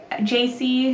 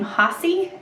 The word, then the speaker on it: Jacee: said hi are you ji they all pronounced my name Hy cuz in Spanish or H and he introduced himself